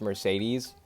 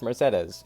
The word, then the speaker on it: Mercedes: that I know her name looks like it's pronounced Mercedes but it's pronounced Mercedes in the game so we have to go with that um Mercedes she had like a long ponytail like resting